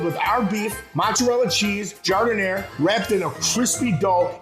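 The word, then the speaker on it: giardiniera: at me don't look all nervous and say gardenia it's pronounced jardin air trust it's the rock solid foundation of moran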